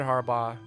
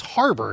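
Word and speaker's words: Harbour: You went Is that how you say it? Harbaugh? No, it's harbor, isn't Yeah, it? that's what I Harbor. I don't know. Like, It's there's literally NFL spelled coverage. like a harbor.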